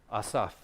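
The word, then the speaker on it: Asaph: and in verse 10 Asaf I always want to say St assf I'm pretty sure it's Asaf okay Peter I'll check with you how do you pronounce his name Asaf the psalmist how would you say it Asa Assaf okay now any what no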